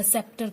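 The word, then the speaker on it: sceptre: कुछ वर्ड ऐसे होते हैं जिनके अंदर सी यूज होता है लेकिन उनका उच्चारण नहीं होता, ठीक है। जैसे मान लो कि हम बात करते हैं सेप्टर की।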